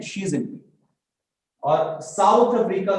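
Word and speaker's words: Xi Jinping: ठीक है, एक्स नु शी कहा जाता है, एनु ए नहीं कहांगे एक्स आई जिनपिंग, शी जिनपिंग, एंड the pronunciation की है शी जिनपिंग।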